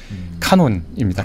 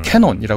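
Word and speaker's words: canon: 표현하지 않죠 그게 이제 카논입니다 캐논이라 흔히 발음하고 뭐 카메라도 유명한게 캐논이 그 캐논이 그 캐논입니다네 그러니까 그게 기준이 된다는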